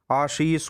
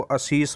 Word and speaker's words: आशीष: शुद्ध कर देते हैं आशीष को अशीष बोलना इस प्रकार के प्रयास